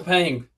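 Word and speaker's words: Paing: You see, is it Ping? P A I N G Ping. Is that right? Yes. Okay. So, yeah. Penguin. All right. So I reach out to Ping, you know, I see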